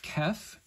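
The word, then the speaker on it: Ceph: Next one is the letter kef.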